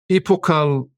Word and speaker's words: epochal: I even looked up its pronunciation and it was said many different ways. Let's hear how you say it. Epochal.